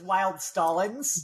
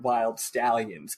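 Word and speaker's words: Wyld Stallyns: NS so to me that's wild stallins not wild read it as wild I was reading it as wild stalins but they do they do the bill Andor Comm band Bill and Ted do pronounce it wild stallions but yeah obviously I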